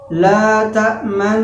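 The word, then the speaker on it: لا تأمنا: Salah satu contoh misalnya pada kalimat la ta'manna. Cara pengucapannya seperti itu dengan cara dimonyongkan.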